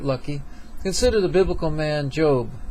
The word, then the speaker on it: Job: Consider the biblical man Job. It's pronounced J-O-B-E, but spelled J-O-B, who lost everything.